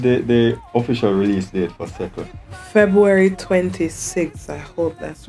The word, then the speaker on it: Sekkle: And just how me I pronounce it, so you have to type Sekkle. Sekkle.